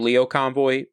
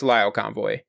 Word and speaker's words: Lio Convoy: In the last series, I pronounced his name Leo Convoy. It's Lio Convoy.